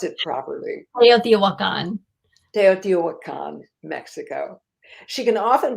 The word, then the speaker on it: Teotihuacan: How do you pronounce it properly? Teotihuacan.